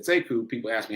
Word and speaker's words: Sekou: He pronounces it Sekou, but it's spelled the same. So when I came along, I said Sekou, people asked me how to spell it.